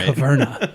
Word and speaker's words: Caverna: Yeah, make sure you get the pronunciation right. Caverna, yes.